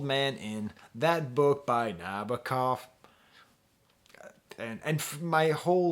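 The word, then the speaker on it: Nabokov: then we get to the song nabakov and nabakov right that's how you're supposed to say it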